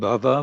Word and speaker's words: bhava: a rope pasu and Bava with a short a means existence so it